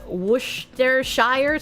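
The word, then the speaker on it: Worcestershire: Worshshire is literally pronounced Woohshire.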